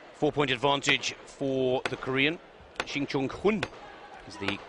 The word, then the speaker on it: Shin Jong-hun: Shin Jong-hun is the correct pronunciation.